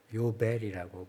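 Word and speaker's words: יובל: 그래서 영어로는 그냥 주빌리라고 읽지만 원래 히브리어로는 요벨이라고 부른다고 그러죠.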